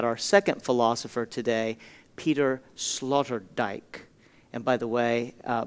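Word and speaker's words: Sloterdijk: our conversation about our second philosopher today Peter Slaughter DJ and by the way uh Mark asked for me to spell these obscure European names Slaughter dye is spelled s l o t r d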